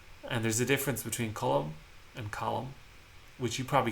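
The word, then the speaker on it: Colm: context uh like um it can be column uh that's um the nominative case if somebody was just saying hey column like they would say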